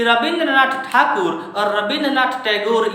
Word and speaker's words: ठाकुर: एक व्यक्ति महापुरुष रविंद्रनाथ ठाकुर, ये ठाकुर शब्द का उच्चारण अंग्रेज लोग ठीक से नहीं कर पा रहे थे, यहाँ से ले जाकर